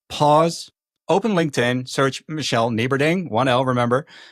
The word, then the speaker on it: Nieberding: Michele Nieberding. Yes, that's Michelle with one L and Nieberding with a silent G.